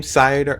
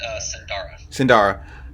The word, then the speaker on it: Sindara: And how do you say his name? Sidar? His name is Sindara.